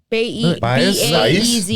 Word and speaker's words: Baez: B-A-E-Z.